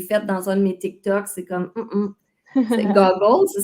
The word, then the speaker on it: TikTok: encore là, le T, j'entends, tu sais, moi je disais TikTok, le T très prononcé du québécois. Fait que encore là, j'entends un T plus subtil. TikTok.